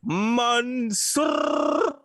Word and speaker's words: Mansoor: Mansoor. Can you roll your R? I can't roll my R's. Okay, Mansoor.